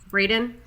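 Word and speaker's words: Braeden: yes the actor what's his name uh Eric Brayden how do you say that Braden yeah um so he was actually a survivor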